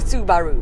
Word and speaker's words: Subaru: at car magazine and the powers that be said that it had to be said su baru salax subaru so i just say subaru super i actually don't